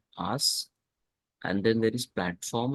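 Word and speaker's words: IaaS: call it I AAS we pronounce it as ask and then there is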